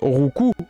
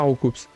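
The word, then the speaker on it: Roucoups: qui s'est planté et qui a fait dire rouup à Sacha enfin c'est pas bien grave mais rouou ça ne veut pas dire grandchose rouu il donne des coups en fait ça se prononce rouu et pas rouups ça prononce rouu voilà donc je vous petit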